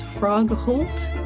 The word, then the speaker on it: Frogholt: He lives in, I'm going to pronounce this as Frogholt. I'm hoping. That's right. Yep, exactly right. He lives in Frogholt, England, in a timber-framed cottage which was built in the year 1450.